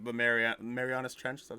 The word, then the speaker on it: Marianas: Like, they were they called it Pacific Rim because, like, they were in the Pacific, like crack in, like, the Marianas Trench.